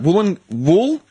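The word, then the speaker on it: Woolloongabba: Let me get the correct pronunciation for you. Wait, I was right. Wollongabba.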